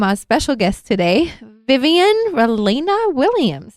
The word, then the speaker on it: Ralena: Vivian Rudd Elena Williams is that how you say it ralina yeah so my middle name is a cross between my father's middle name which is Ramos and my mom's middle name Elena so I love it